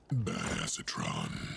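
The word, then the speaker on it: Badassatron: give it to myself or anything actually it's pronounced bad acetron in case you were wondering bad acetron you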